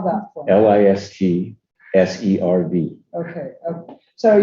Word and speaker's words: Listserv: And we started Lister. I think lots of people don't know about, am I saying it right? Lister, right? yeah. Lister? Sir. Yeah. Okay, so spell that for me. LISTSERV.